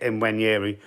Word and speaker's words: Nwaneri: I have been pronouncing it Nwaneri, but I've been told, it's a silent N.